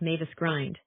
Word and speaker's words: Mavis Grind: only by the narrow bridge of land called Mavis Grind. Grind with the I pronounced as in in means a gate.